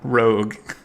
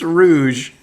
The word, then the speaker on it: Rouge: Crocodile her name's not Rogue shut up well what is it then it's Rouge whatever Rouge the Bat like the color why is it spelled